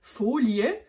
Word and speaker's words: Folie: fous le terme folie enfin prononcer folier en accentuant le faux et là la